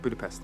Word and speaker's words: Budapest: Yeah, Budapest. No, it's Budapest. Budapest. Budapest. Budapest. Yes, Natasha is using the Hungarian pronunciation, calling back her exchange with Hawkeye in Avengers.